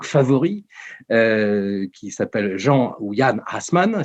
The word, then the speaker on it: Assmann: qui s'appelle jean william assmann si on prononce à l'allemande dont kita allemand qui